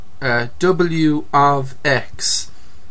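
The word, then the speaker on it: W(x): So your wage, you could have a wage function, and it's pronounced this way. This would be pronounced W of x equals 950x minus 25.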